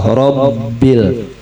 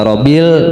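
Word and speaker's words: رَبِّ: Itu ada tiga tuh. Ro ba sukun ba kasrah. Rbil. Kalau kita baca robil ba sukunnya hilang maka akan hancur rukun fatihahnya.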